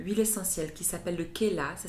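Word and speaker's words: Khella: y a une huile essentielle qui s'appelle le Khela, ça s'écrit K-H-E-2-L-A.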